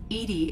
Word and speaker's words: EDI: Edi is the phonetic pronunciation of E-D-I.